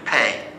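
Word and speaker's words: paix: And the French is simply pay, peace. We pronounce it pay, like P-A-Y. Spelled P-A-I-X, pronounced pay.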